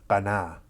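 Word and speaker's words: קנה: It's pronounced qanah, Qanah, and it has a range of meanings.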